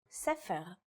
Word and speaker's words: sefer: In the word for book, or sefer, it's pronounced with a f sound.